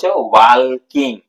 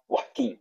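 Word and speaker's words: walking: বল father তুমি বল ওয়ালকিং তাইতো কিন্তু এখানে মনে রাখবে ওয়ালকিং এর এলটা সাইলেন্টার ওয়াকিং তুমি বলো এটা প্রশ্নের উত্তর দিতে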